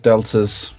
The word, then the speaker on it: D3LTA: Okay, let's start with deltas. I'm assuming he's not wanting me to pronounce it in D3LTA. What? Yes. The Thrillter? Delta. The 3 is meant to be an E.